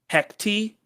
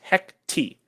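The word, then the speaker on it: Hecate: in the Marvel universe at this point, because Hecti. That is how it is pronounced. Pronounced Hecti.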